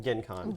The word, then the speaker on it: Gen Con: but as I mentioned it's a hard G so you call it gank on Gen Con but you never use